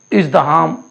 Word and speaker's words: ازدحام: تلفظ ازدحام الف جو ہے حلوے والا ہے الف ہا اور میم.